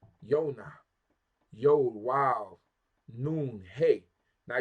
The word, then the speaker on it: Yona: the in the Hebrew language so we say Yona Yona Yol wild noon hay now you see how